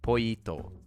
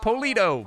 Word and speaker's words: pollito: Pollito. Yeah, because I first was like polito, but then I was like, wait a second. What about a pollo or a chicken? Because that's spelled with L's.